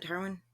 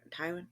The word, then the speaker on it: Tywin: ] character's name is um tarwi is it tarwin Tywin I always forget his I always say his name wrong yeah one of them but father Lannister